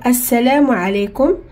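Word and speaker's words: السلام: Mais ici on a dit assalamu parce que quand il y a l'alif ou lam et on commence avec, c'est obligé qu'on met fatha. Même si on l'écrit pas, mais on le dit, on dit as. Et on n'a pas prononcé aussi lam. Pourquoi? Parce qu'il y a shidda.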